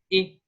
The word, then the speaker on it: et: And the beginning of eternal is exactly the same sound. Et.